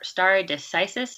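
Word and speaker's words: stare decisis: you pronounce that term star star a decisis is that right that's correct yeah okay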